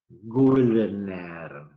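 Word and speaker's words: Gouldner: Alvin, así como suena, con B corta, Goulder, se escribe G-O-U-L-D, Goulder, que vivió entre 1920 y 1980.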